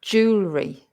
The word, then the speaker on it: jewelry: isn't it Jew try jewelry Jewel I reckon that's three syllables and the first syllable will be stressed actually probably starts that